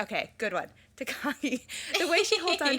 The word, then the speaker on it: Takagi: See, now I'm going to say his name wrong because we said it wrong the first time. Takagi. Okay, good one. Takagi.